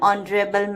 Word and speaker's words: honorable: the answer is an honorable man here the word honorable starts with the consonant sound H but H is silent therefore the word honorable